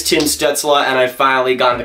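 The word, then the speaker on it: Stützle: Tim students Allah no it is not Tim's duxelle as have been saying for like the past year it is chin Stetz Allah and I finally gotten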